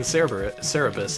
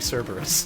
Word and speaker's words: Cerberus: I just realized I've been saying Cerebus. It's supposed to be Cerberus. Yeah, you're pronouncing it like the guy, like the creation of that weird guy's comic, and not like the cool hell dude.